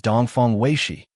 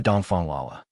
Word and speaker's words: Dongfang Weixi: Teacher Dongfongs name is Dongfong Wayi, not Dongfong Lala. He simply couldn't bring himself to say the word diarrhea.